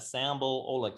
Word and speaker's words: Sambal Oelek: and always remember that sample oh look just like it's spelt on the recipe not sandra bullock although she's hot too